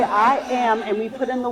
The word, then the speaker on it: IAAM: international African-American Museum and our acronym is pronounced I am and so we stand